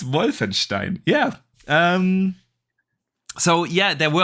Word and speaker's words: Wolfenstein: Pronounce the W more like a V. Yeah. Wolfenstein. It's a W. Wolfenstein.